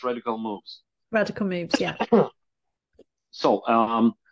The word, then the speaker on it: Radical Moves: I said it right it's not rad radical movies it's radical moves radical moves yeah so